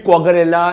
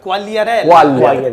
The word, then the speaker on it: Quagliarella: Him, Quagliarella and Di Natale.